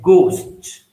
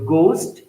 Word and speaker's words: ghost: H is mute, such as ghost, aghast, ghastly.